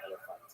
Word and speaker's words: Elephantine: I always pronounce that, by the way, Elephantine. I looked a little more carefully. It's supposed to be pronounced Elephantine.